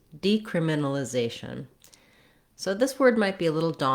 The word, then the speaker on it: decriminalization: just the word criminalization, we have the stress on the second to last syllable, zay. That means that syllable will have a clear vowel and will be held longer. It's often helpful to start with a stressed syllable and build backwards from there. If you were trying that with this word, it would sound like zation, criminalization, decriminalization.